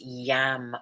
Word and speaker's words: Yam: The sound here is yam, Y-A-M, teeth together, making that little grin.